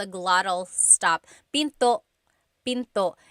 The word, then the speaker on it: pinto: Tagalog is pin pin and remember don't forget the gladle stop don't forget to stop the sound at the end that's called gladle stop Pinto Pinto it's not Pinto